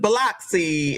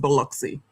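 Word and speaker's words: Biloxi: annunciate the word Beluxy cuz I was saying Bloxy and they was looking at me like I was crazy. It's it's pronounced Beluxy.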